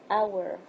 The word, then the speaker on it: hour: Okay, so in the first word, the letter which is silent is the H. Is pronounced hour. Hour.